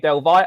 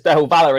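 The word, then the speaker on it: del Valle: Independente Delva. Apparently it's Delva, not Delv Valor. I I pronounced it as Delvalor in in a video and someone picks me up on the pronunciation.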